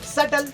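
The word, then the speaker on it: subtle: सटल, इसमें B silent है भाई।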